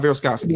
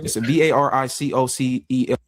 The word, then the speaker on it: varicocele: Varicocele. I don't know how to say that word. Varicosity. No, not varicosity. It's a VARICOCEL.